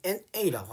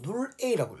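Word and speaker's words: N(A): AX는 0의 해집합을 우리는 NA라고 하자. 그러니까 이렇게 되어 있죠. 우리가 영공간인데 NA를 일단은 우리가 뭐예요? 이거를 우리가 AX는 0이라는 해집합을 우리가 이렇게 기호로 나타내거든요. 그래서 사실상 NA라고 안 읽고 눌 A라고 읽어요.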